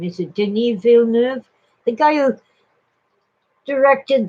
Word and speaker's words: Denis: It's spelled kind of like Dennis with one N, but the French, and he's a French Canadian, they pronounce it Denis.